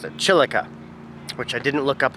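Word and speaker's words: chilaca: dried chilica pepper chilica pepper that's how you pronounce it chilika which i didn't look up what chilika is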